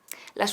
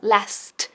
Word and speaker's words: last: Ahora, cuidado con la pronunciación de last, que no digas las, sino last, con la T bien marcada.